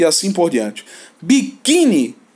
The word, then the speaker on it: biquíni: e assim por diante biquíni sílaba tônica é a penúltima essa que s bahn